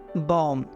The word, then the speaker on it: bomb: BOMB, बॉम, BOMB, बॉम।